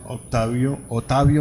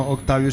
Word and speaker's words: Ottavio: a un sacerdote, Monseñor Ottavio Michelini. Se escribe no Octavio sino Ottavio, es italiano, que tiene pues el obispo de Mazatlán.